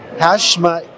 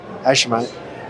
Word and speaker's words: Hashemite: One of the things here is represented various interests over the past 45 years in the Hashemite Kingdom of Jordan. I know I pronounced that wrong. Hashemite.